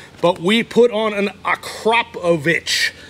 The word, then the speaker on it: Akrapovic: we put on an akrapovic acropovich is how you pronounce it in my